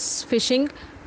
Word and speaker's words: phishing: There is another important type of malware, that is phishing, pronounced as phishing. The spelling is little bit different, but the pronunciation word is starting with F.